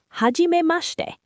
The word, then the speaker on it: はじめまして: Now, let's talk about the other phrase Hiro said, はじめまして.